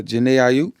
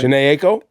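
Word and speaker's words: Jhené Aiko: Either that Dave Loaf or that uh Jana Aayup. Yeah, that's how you say her name, right? Jane Ako.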